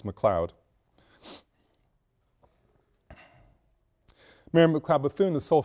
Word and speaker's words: McLeod: Mary McLeod Bethune, and the spelling is correct and the pronunciation is correct, it's McLeod.